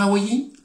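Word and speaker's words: Hawaii: trouve sur l'île d'hawaaiï ça j'ai bien prononcé il faut dire hawaïi bon mince je sais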